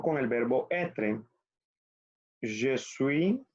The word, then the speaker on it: suis: Je suis, acuérdense que la S final no se pronuncia.